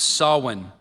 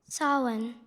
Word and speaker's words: Sawan: The temple held a puja for Lord Shiva every Monday during the month of Sawin. Sin.